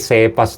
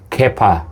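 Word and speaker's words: Cephas: Akala ko dati Sepas to. Sepas. Silent S ho pala to dahil sa galing ito sa salitang aramaik na Kepa meaning stone or rock which translated as stone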